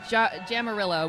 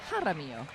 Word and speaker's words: Jaramillo: Okay, so I've been pronouncing, I started with Jamarillo, which was wrong. Now I did Jaramillo, and now we're finding out it's Jaramillo.